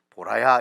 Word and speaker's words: 보라: 발음 잘못하면 큰일 납니다. 보라야 이렇게 불러야 됩니다. 큰일 납니다. 앞에 이렇게 다 같이 하면 잘못하면 마누라 이름도 욕처럼 들릴 수가 있어요.